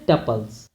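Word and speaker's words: tuples: अब देखिए यहाँ पे दिया भी हुआ है, usually pronounced to rim with कपल्स, जैसे कपल्स पढ़ते हैं वैसे इसको हम पढ़ते हैं टपल्स।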